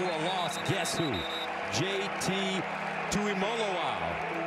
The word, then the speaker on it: Tuimoloau: JT Tuimoloau. It's Molo, like Rolo, folks. That's how they tell us to pronounce it.